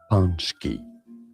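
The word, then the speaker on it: pączki: Look, break down the pronunciation because the spelling is confusing. Punchki. PKI. Punchk. Easy.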